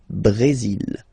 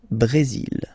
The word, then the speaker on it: Brésil: Okay, you will pronounce the final L here, and then remember, accent aigu goes like E. Brésil. Le Brésil.